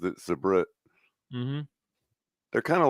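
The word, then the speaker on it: Sabrett: Nacho Fan said that's how you pronounce it. Subrate. Sabret.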